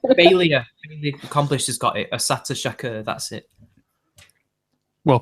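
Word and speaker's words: Assata Shakur: Asata Shakur, that's it. Well pronounced. Well, I assume that's what it is. Ashat Shakur.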